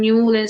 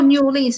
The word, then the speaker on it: New Orleans: told me they're from New Orleans. I was like, "Oh, New Orleans." They're like, "No, it's called New Orleans."